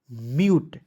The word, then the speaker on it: mute: देंगे, क्या हो जाएगा, म्यूट, MUTE। या दोस्तों आप डायरेक्ट लिख सकते हैं एम से आधा म, UTE का उच्चारण दोस्तों यूट के रूप में, ठीक है।